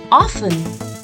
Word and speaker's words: often: this word it's often the T in this word remains silent so we pronounce it as often although sometimes often is also accepted but it will be